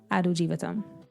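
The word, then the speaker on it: ആടുജീവിതം: The Goat life or as it would properly be pronounced in Hindi which is Adu jatum this film beautifully illustrates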